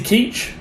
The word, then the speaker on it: Keech: Her last name is Keach, Peach. Keach, it rhymes, play on words, very smart.